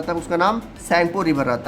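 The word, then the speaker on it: Tsangpo: तक चीन में राहत है तब उसका नाम साइन पुरी भर राहत है क्या नाम राहत है स्पेलिंग क्या है टी एस ए एन जी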